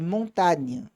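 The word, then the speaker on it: montagne: n o n i montâ. Na então esse G ele praticamente não se pronuncia.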